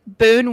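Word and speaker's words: Boun: them say each other's names i will say boone went live this morning and i was listening to it and he kept saying boon over and over which was very helpful because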